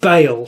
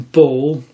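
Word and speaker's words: Baal: um out loud and it seems to be pronounced Bale so I've been calling him ball thinking it was ball and that's difficult to say apparent it's Bale I'm going to stick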